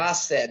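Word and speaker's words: חֶסֶד: Chesed, not Chas- Hesed.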